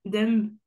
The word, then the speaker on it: dumb: Limb, bombe, dumb. Ok, alors là, t'as pas réussi à deviner la petite règle. Oui. On prononce jamais le B à la fin.